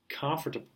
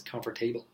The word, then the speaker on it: comfortable: Often students mispronounce it and then they say it as comfortable, which is very, very, very oftentimes I hear it like comfortable. They probably think like the root of this word is table.